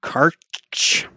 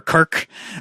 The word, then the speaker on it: Karch: Moving on then, there was an interview with Saber Interactive's CEO, Matthew Karch, I think is how you say that. That's certainly how you pronounce it. Or Kark. Karkeri.